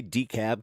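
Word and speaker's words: DeKalb: I like how they'd say Decab County like they don't pronounce the L.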